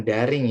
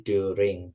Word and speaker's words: during: Dan yang terakhir ketika bilang selama itu bukan daring ya, tapi during. During.